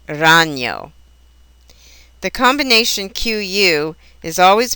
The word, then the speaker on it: ragno: Also, the letters GN give a ñ sound, like the Spanish N with a tilde, or in the word canyon. Examples would be montaña or ragno.